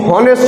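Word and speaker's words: honest: উচ্চারণ যে এইচ ও এন ই এস টি অনেস্ট নয় উচ্চারণ কি হবে অনেস্ট তাহলে কনসোনেন্টের উচ্চারণ হচ্ছে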